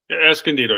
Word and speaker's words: Escondido: Escondido, yes, correct.